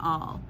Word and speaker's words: awl: And you'll also need an awl. I mispronounced this a ton. It's just sounds like the word A-L-L, like all, but it's spelled A-W-L.